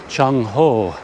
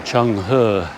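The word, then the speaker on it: Zheng He: It is the Cheng Ho, or Cheng He, however you choose to pronounce his name.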